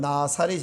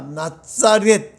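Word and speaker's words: Ναζαρέτ: 저렇게 쓴다는 것을 참고로 원래 발음은 나사렛이 아니고 나자렛인데요. 저 나자렛이라는 말은 히브리어 넷제르에서 파생되어 온 단어입니다. 그러니까 나사렛이 아니라 나자렛, 이게 원래 맞죠?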